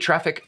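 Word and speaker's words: Traefik: it traffic trifec trific depending on what origin your language comes from you might pronounce the ae differently and they said it's like the e in aesthetics so it's not quite an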